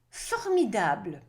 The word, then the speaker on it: formidable: Now, English pronunciation says able, so you want to say formidable with the intonations pivoting over the letter I, but the French like the intonation or the weight of the sound on the end, so it's formidable.